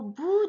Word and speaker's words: bout: Bout, o u voyelle composée, ça se prononce O. Ou T, c'est muet.